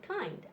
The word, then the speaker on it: kind: So this one is actually a long I sound. Eind and kind.